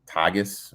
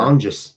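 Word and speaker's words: Tonges: um the 49ers um I can't pronounce his name to Tagis or whatever. Tongis. Jake Tongis. Tanis.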